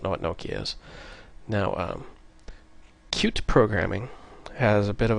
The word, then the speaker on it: Qt: It's spelled Qt, but it's pronounced Qt.